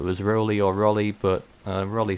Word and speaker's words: Rolly: pronunciation, whether it was Rolly or Rolly, but Rolly sounds more apt, to be honest.